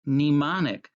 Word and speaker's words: mnemonic: means memory it's spelled kind of funny it's pronounced mnemonic so i'm going to show you some mnemonic